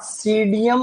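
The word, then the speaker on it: Psidium: इसमें क्या P silent रहता है बच्चों, तो इसमें हम इसको अंग्रेजी में लिखने जा रहे हैं, इसको कह रहे हैं सीडियम गुआजावा। तो इसमें पी साइलेंट है, देखो सीडियम गुआजावा।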